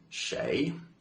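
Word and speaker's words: 谁: Doctor Who from the TV show for the pronunciation Shay and now this is a difficult one because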